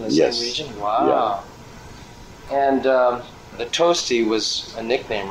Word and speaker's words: Tosti: they did I said if you want to spell it you want to call me you smell it like the Italian composer toasty oh and there was one yeah oh wow